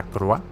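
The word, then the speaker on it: LaCroix: Siempre me olvido de la pronunciación de la Croix, que es la Croix.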